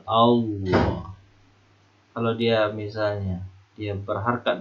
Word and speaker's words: Allah: Kapan lafaz Allah ini dibaca tebal ya? Lihat huruf sebelumnya. Kalau huruf sebelumnya berharakat fathah, maka dia tebal. Allah.